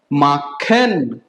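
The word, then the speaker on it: machen: Okay, कुछ और bye spelling देखते हैं, ठीक है, जैसे एम ए CH E N, क्या बनता है? माखन।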